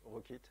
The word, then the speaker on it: rkt: en ont et roquettes mais on prononce rockit pour des histoires de licence il a été créé